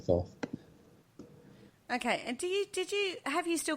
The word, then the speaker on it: Thoth: It's actually pronounced Toth, but it also sounds silly to me to call it Thoth.